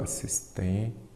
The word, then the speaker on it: assistência: Assistência, a sílaba forte é qual? A penúltima. Se a sílaba forte é a penúltima, ela é uma palavra paroxítona.